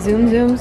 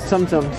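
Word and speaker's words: Tsum Tsum: Zoom zooms? Sumsums. Sumsums. I always say it wrong.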